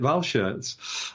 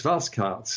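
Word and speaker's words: Walschaerts: have pronounced that incorrectly we've always made it German and called it valve shirts but Spanish telling us it's fast carts and I can believe that because Belgian pronunciation is very different from German pronunciation so thank you for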